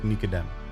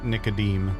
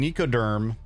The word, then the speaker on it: Nicodem: But yes, his name is pronounced Nicodem. He will also accept Nicodem if you say it that way. But if you call him Nicoderm, uh you going to get stabbed. You you you getting a blade.